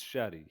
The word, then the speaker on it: Shadi: Well, I think Shady? Is it Shady? it's Shadi.